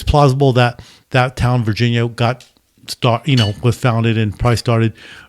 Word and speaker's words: Varginha: So there's a place in Brazil called Virginia. Virginia. It's called, but it's spelled differently. It's called Varginha or something like that.